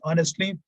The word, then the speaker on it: honestly: Note, the following words begin with a silent H, and they are especially words like hourly, heir, heiress, honor, honorable, honest, honestly. They must be pronounced as though they were no H at the beginning. As I already told you, the pronunciation begins with O.